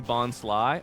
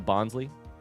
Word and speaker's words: Bonsly: It's supposed to be Bonsly. Oh, like Bonsai. That makes sense. Is that a Bonsley?